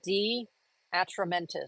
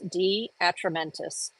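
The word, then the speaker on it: De Atramentis: And that's D Atramentis. So it's spelled DE and then Atramentis. D Atramentis.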